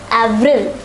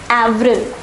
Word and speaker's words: avril: pronounced as Mars once more Mars April is pronounced as Avril Avril so let us say these four months once